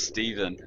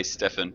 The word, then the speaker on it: Stephen: Steven yes yeah it's Steven A lot of people say Stefan which doesn't it doesn't bother me I'm kind of used to it in real life um but yeah the correct pronunciation is Steven oh sucess the ve